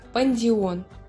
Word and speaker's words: Pandion: линнеем в 1758 году родовое название птица звучит как пандион считается что свое название